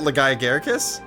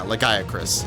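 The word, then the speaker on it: Lagiacrus: Is that Legiagaricus? Or however you pronounce it? Legiacris, I think it is. Yeah, Legiacris. I've been saying it wrong this whole time.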